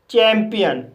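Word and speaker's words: champion: Guys, इसका अगला rule है, जब किसी वर्ड के बीच में आई ओ आए तब आई ओ का उच्चारण ई आ होता है। फॉर एग्जाम्पल, चैंपियन, इस वर्ड में सी एच को चा पढ़ा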